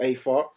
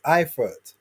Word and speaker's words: Eifert: If he does fight Connor Wallace, Michael Afart, then I want to Why see do you Craig keep Richards. repeating his name and saying it wrong each time? It's Eifert.